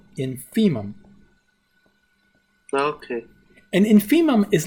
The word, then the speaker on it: infimum: uses this the infimum of a this is pronounced infimum now could and infimum is Latin it means